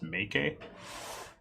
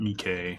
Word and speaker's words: Meike: know the pronunciation is make a um at least as far as our contacts at the factory go so make it not mike not mikey so right off the